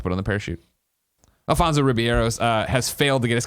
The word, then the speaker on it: Ribeiro: Number 1, Alfonso Ribeiro's fails. I'm always so I don't want to say his name wrong.